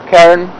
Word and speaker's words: Karen: Nairobi, that would be pronounced Karen after Karen Blixen.